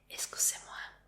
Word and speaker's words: excusez-moi: Entonces esa palabra se dice excusez-moi. ¿La conocías? Sí. Suena un poquito como inglés.